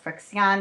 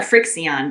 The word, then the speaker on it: FriXion: So Betz, you wanted to talk about the I think it's called Frixion, maybe it's called Friction, I don't know, pen, which I have wanted to try, and I haven't gotten one yet.